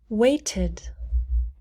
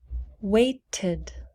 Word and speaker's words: waited: pronounce the e loved waited waited wait ends with a t so we pronounce tid tid weighted pact pact